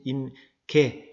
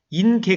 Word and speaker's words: 임계: 사실 , 제 가 9 번 발음 을 잘못 했어 요 . " 인계 " 가 아니라 " 임계 " 입니다 . " 임 " 의 끝 부분 'n' 발음 을 'm' 발음 으로 바꿔 주세요 .